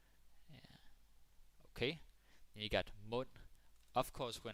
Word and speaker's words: mund: You could say, så åbnede han munden. Very dramatic. Så åbnede han munden. Yeah. Then he opened his mouth. Så åbnede han munden. Mund. The D is silent.